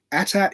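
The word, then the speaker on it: AT-AT: actually from lucasfilm licensing an email that says attack is pronounced at the same pronunciation as hat hat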